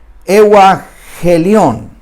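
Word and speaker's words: εὐαγγέλιον: griego, pero me atrevo, euangelion, porque lleva un acento en la E, que ahí no lo captó la pantalla, pero esa es la palabra que se usaba en aquel tiempo para describir evangelio, euangelion.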